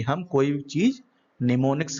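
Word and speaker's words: mnemonics: निमोनिक्स मतलब एम यहाँ पर साइलेंट रहता है, तो इसको बोलते हैं निमोनिक्स।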